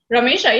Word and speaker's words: Ramesha: ramesha welcome hi stephen saying your name correctly right ramisha yeah perfect boom that's great yeah